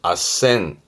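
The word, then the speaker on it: あっせん: 그래서 발음이 아센. 아센.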